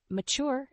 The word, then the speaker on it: mature: fifth word is mature the word mature has two syllables with the stress on the second syllable mature as an adjective describes